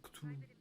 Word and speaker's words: Cthulhu: On n'est pas censé pouvoir le prononcer. C'est Cthulhu.